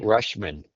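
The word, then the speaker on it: Rutschman: Dingler and Rashman, how do you pronounce his name? Andy Rushman.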